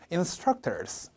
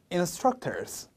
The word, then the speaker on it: instructors: 여기에 강세가 오기 때문에 제가 읽으면 따라해 보실게요. instructors. 한 번 더요. instructors.